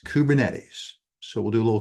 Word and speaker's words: Kubernetes: That's pronounced Kubernetes. Kubernetes.